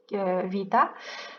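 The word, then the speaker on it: β: Alors juste pour ceux qui ne savent pas lire le grec, il faut savoir que cette lettre vita, elle se prononce pas B, elle se prononce V.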